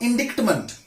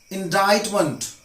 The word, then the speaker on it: indictment: was indicted with crime another one indictment not indict iment indictment that means it's a